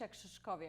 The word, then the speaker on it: Krzyszkowiak: how do you say your last name gauche exes coffee a classmate it's just a very difficult last